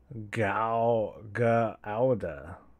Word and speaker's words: Gouda: It's pronounced Gauda. Gauda.